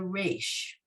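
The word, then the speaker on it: ריש: to learn here is the rash so obviously it sounds like an r and you guys can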